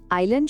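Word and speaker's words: island: আইল্যান্ড শব্দে এস অক্ষরটা silent, listen শব্দে টি এর কোনো সাউন্ড নেই, আর ওয়েন্সডে শব্দে প্রথম ডি অক্ষরটা আমরা উচ্চারণই করি না।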